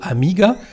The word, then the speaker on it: amiga: mot aguila c'est que pour le mot amiga l'accent tonique et placé sur la deuxième et non pas sur la première lettre pour cette raison il